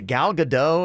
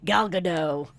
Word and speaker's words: Gal Gadot: Is it Gal Gadot?